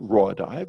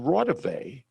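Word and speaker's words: Raudive: he had mispronounced it it wasn't raw dive it was constantine rotavey who was an uh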